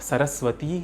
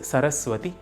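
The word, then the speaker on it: सरस्वति: Whenever there is a Sambodhana or an addressal, names ending in E like Gauri, Parvati and Saraswati are to be transformed to a shorter E sound. In order to address these goddesses, you would call them as He Gauri, He Parvati and He Saraswati. So it is not Saraswati Namastubhyam, it is Saraswati Namastubhyam.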